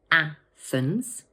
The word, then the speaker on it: Athens: This word has two syllables, Athens, and the first one is stressed. Watch out for that tricky th sound.